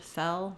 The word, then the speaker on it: fell: L at the end fell fell in so you can hear that it's just like ell it also rhymes with L which is how we say the letter L so you may want